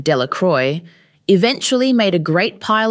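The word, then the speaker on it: Delacroix: Jones and Dicky delaqua the villagers pronounced this name delacroy eventually made a great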